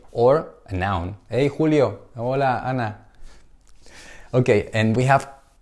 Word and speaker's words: hola: Archie Archie is silent sound okay we don't pronounce Archie it's like here Ola we don't say holla no no hola hola hola hello hola Alana my mother okay